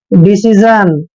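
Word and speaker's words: decision: गया ना और देखिए जहां भी एस आई इकट्ठा आता है तो इसको आपने जन पढ़ना है डिसीजन डिसीजन डिसीजन क्या होता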